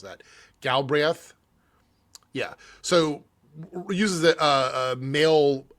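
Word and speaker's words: Galbraith: Galri, I can't ever pronounce that. Galbreth.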